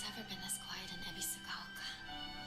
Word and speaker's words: Ebisugaoka: Ebisugaoka.